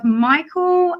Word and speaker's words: Micheal: But today we have Micheal, am I pronouncing it right?